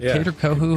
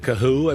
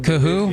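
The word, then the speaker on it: Kohou: Kater Coo is that Cahoo. Cahoo. Boy, that shows you how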